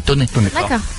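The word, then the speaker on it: Thônex: Tony, c'est à côté ça s'écrit Tonex mais ça se dit Toné.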